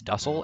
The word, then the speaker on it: Dussel: I'm never going to pronounce it that way. It's Dussel, and it's going to be Dussel for the end of time.